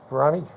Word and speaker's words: Veronique: How do you say, is it Veronique? Is that right? Monique. Veronique? Okay. Like Monique, but you're gonna say Veronica, but you stop at it.